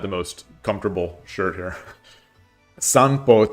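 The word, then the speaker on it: 散歩: Sanpo, taking a walk outside, sounds like sampo when spoken.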